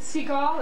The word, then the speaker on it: Siegel: Seagull or Siegel? Siegel.